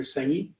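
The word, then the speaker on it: Senge: systems thinking but wait is it peter singer or how do you spell it s-e-n-g-e peter sengi okay and uh so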